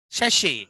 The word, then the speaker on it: sachet: Sachet. Robo. Robo. Robo. And the other one? Sachet. T is silent.